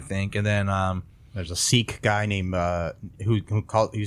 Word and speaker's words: Sikh: And then there's a Sikh guy named who says he's sick and not Sikh. He says he's sick. He pronounces it sick instead of Sikh. I think sometimes people can pronounce it either way.